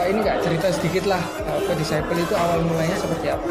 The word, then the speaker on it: DSCPLE: Jadi sebenarnya ini bukan DSCPLE. Bacanya itu adalah Disciple. Ya, jangan lupa Disciple.